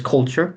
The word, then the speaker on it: culture: The next word is culture. A lot of people pronounce this word like gacha. Gacha. Culture.